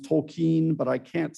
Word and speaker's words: Tolkien: I hear it's actually pronounced Tolkien, but I can't say that because I've been saying it Tolkien my entire life.